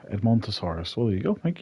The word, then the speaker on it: Edmontosaurus: How do you pronounce them? It's Ed. Edmontosaurus. Edmontosaurus.